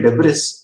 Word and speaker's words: debris: Pieces of would, pieces of wood, floating debris, floating debris, spelling होती है डेब्रिस, लेकिन इसको प्रोनाउंस करते हैं डेब्री।